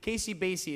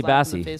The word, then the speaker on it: Basie: Basie is spelled Bassy like a bass. Casey Basie. Casey is my first name, and then bass like a bassy, and almost like a bass too.